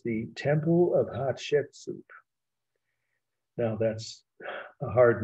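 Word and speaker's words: Hatshepsut: again h a t s h e s pronounced hot soup someone told me it sounded one of my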